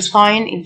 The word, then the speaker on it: sign: complete whole W silent whole جزئي partial T-I-A تنطق شه partial incomplete incomplete notes on vocabulary notice ملاحظة أو انتباه notice وتساوي sign G silent يعني إشعار notice وتساوي warning يعني